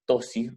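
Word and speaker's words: ptosis: grasa perirrenal de Girota, se produce la tosis renal. Se escribe P-tosis renal, ¿sí?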